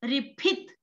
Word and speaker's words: रिफित: रिफित। रिफित दोनों में अंतर है। फित, फ को पा की तरह बोलना है।